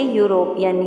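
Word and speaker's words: European: अब यहाँ पे आवाज़ आ रही है हमारी किसकी, य की, यूरोपियन, ई साइलेंट है, इसको आप कैसे प्रोनाउंस करेंगे, यूरोपियन, य, तो इसलिए हमने यहाँ पे ए आर्टिकल यूज़ किया।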